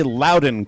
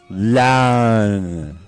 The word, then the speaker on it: Loudoun: Loudoun County, and really, don't say Loudoun County. Do not pronounce it that way. Pronounce it like Wade does, okay? Pronounce it like this. Loudoun.